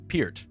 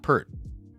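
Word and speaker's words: Peart: which by the way I found out it's pronounced Pier not per I always said Neil per growing up but I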